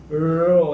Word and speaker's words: rho: Ya, bukan ro, ya, bukan ro. Trilling. Jadi bergetar. Ro.